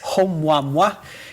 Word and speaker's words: Oumuamua: De facto, é mesmo assim que se pronuncia Oumuamua, é um nome havaiano, e estamos a falar daquele que foi o primeiro objeto interestelar detectado.